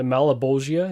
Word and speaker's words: Leguizamo: an incredible bad guy I really like John Leguizamo the malibosia is how you say his name that CG